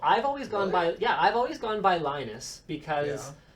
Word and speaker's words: Linus: Linus? Well, he's Swedish, so that's how they pronounce it.